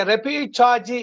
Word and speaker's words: repechage: Okay, repechaji is a right pronunciation because of the Spanish word.